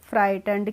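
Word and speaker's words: frightened: हमारा ही was very फ्राइटें क्या बोलेंगे फ्राइंड पीछे भी ऊपर भी आया था एक जीएच जब होती है तो यहां पे यह साइलेंट होती है तो हम इसको बोलते हैं फ्राइटें जस्ट देन ए लार्ज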